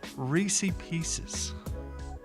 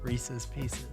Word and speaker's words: Reese's Pieces: is a beautifully iced Reese Pieces. How do you say that? Reese's Pieces. You say Reese's Pieces? Reese's Pieces. I said Reese Pieces. But there's an S at the end of Reese.